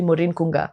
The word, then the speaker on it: Maureen Kunga: to people and saying my name is actually Morin Kunga my name is not Min Elani you